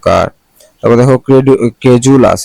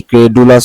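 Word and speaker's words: credulous: এস এটা normally কি ক্রেডুলাস হওয়ার কথা কিন্তু এটার উচ্চারণ হলো ক্রেজুলাস এখানে ডিটা কি জ উচ্চারণ হবে ডিটা এর মত উচ্চারণ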